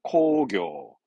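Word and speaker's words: 工業: 공업은 코교, 공업은 코교. 다음 그렇죠. 이제 바로바로 나오죠. 공장입니다.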